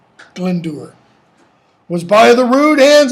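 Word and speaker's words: Glendower: the irregular and wild glen doer not glen dower glendur was by the rude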